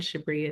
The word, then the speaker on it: Shabre: And Shabri is spelled S H A B R E on the screen right here.